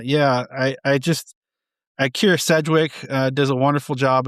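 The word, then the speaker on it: Sedgwick: Sedwick.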